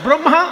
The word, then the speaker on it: ব্রহ্মা: ব্রহ্মা রফলা বলে, ব্রহ্মা বিষ্ণু মহেশ্বর।